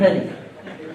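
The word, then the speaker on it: phthalic acid: थैलिक एसिड लिखते हैं, पैथैलिक बोलते हैं थैलिक। अरे पी साइलेंट देख रहे हो बेटा?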